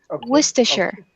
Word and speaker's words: Worcestershire: this word three times and Ken will practice pronouncing and then um Silva will do it ok here we go Worcestershire Worcestershire Worcestershire Worcestershire Worcestershire Worcestershire siavash yes with